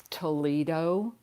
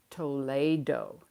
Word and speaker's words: Toledo: some, how to pronounce, a lot of people say Toledo, but in the jewelry world, the Toledo ware is actually pronounced Toledo, because it's like from Spain and that area.